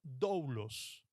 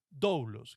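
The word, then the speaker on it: δοῦλος: Entonces, cuando quedaban libres y su deuda saldada, el esclavo podía transformarse en algo que en griego se pronunciaba doulos, doulos, que esa es la palabra que utilizó Pablo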